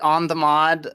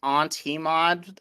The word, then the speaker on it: onthemod: Oh, you can pronounce it on the mod. Some people pronounce it on T-mod, which is also an acceptable parsing.